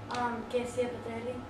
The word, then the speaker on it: Kezia Petrelli: Kezia Patelli.